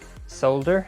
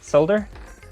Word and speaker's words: solder: to watch and he he does pronounce the ls you pronounce the l's in the great land of canada this thing is jacked